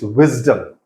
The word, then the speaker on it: wisdom: is of C promising wisdom has a z sound to it it's not bdom it's wisdom right frees you know